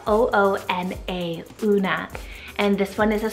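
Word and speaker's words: Oona: Then we have the wonderful name Una, spelled O-O-N-A, Una.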